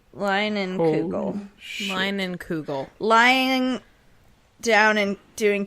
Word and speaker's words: Leinenkugel: Leinenkugel. Leinenkugel. Lying down and doing Kegels, I think is the name. No. They do have a pronunciation on here. Line and Kugels.